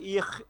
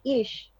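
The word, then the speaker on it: Ich: তাহলে তো তোমারটা অথেন্টিক হবে, কিন্তু ওখানে আছে ইখ ইখ এরকম। তুমি বলো তো উচ্চারণটা, তাহলে শিখে নেই। স্যার এটা হচ্ছে ইশ। ইস ইশ মানে আই। ইশ। মানে রস্যই তালব্য স।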